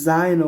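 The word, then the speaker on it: zaino: ব্যাগকে কি বলতেছে মানে স্কুল ব্যাগ তো এটাকে জায়নো বলে জে এ আই এন ও জায়েনো এটাকে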